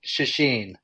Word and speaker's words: Czeschin: Every which way, but I always tell people the easiest way to remember it is it rhymes with machine. So machine, Czeschin.